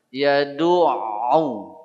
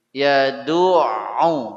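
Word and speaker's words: يدع: ya pada kalimat ainnya ditekan dulu Yad cobi Yad lagi Yad begitu falikalladziul silak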